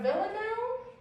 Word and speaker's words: villanelle: And a villanelle, is that how you pronounce that? Mm-hmm.